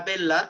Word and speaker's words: bella: Perdón, vita bella es en italiano, ¿no? En italiano se pronuncia la doble L, ¿no? Es por separado, no se dice vita bella, sino vita bella.